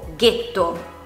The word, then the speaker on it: ghetto: Quando è seguita dalla lettera H e poi dalla vocale E oppure I, ha un suono duro in parole come per esempio ghisa o ghetto.